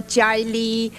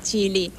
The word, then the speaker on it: Ji-li: to say my name they often ask me it's pronounced the G ly or jelly it's pronounced g ee l ee g ly actually it's pretty simple chilly I would have to